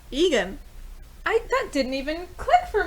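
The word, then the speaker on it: Egen: It's not exactly spelled like her name, but that's Egan.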